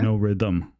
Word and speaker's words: Norythum: it to thumb but if you actually just read the U like it's supposed to be read then you get no rhythm because it's not a